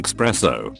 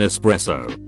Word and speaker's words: espresso: all intents and purposes when people say expresso when they mean espresso I have a co-worker who